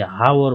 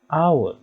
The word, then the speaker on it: hour: An hour, look, यो hour, in honest, in an air, here the first letter ह is silent. यो चाहिँ silent हुन्छ। हामीले हावर भन्दैनौं, we say hour, honest, air, हामी पढ्दा त्यसरी पढ्छौं।